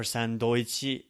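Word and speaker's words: サンドイッチ: Sandwich or sandoichi is the way this is pronounced.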